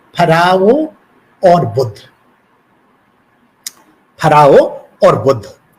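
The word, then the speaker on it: फ़राओ: फराओ, या जिसे उच्चारण में फेरो भी कहा जाता है, ये मिस्र की संस्कृति का राजनीतिक और धार्मिक इतिहास अपने में समेटे हुए है।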